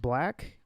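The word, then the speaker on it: 6lack: about you know um six lakh pronounced black dropped an ep uh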